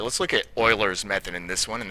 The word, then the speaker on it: Euler: All right, let's look at Oilers's method in this one. And that is pronounced Oiler, not Euler.